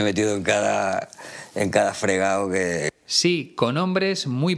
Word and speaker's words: fregado: expresión meterse en un fregao en realidad sería meterse en un fregado pero en esta expresión nunca pronunciamos la d porque es muy coloquial muy informal en primer lugar debes